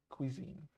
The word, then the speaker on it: cuisine: uh the word in English the word is pronounced Cuisine so you have Belarusian Cuisine you have French